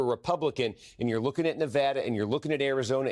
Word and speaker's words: Nevada: you see the guy why is she saying it wrong it's called Nevada Governor's oh you see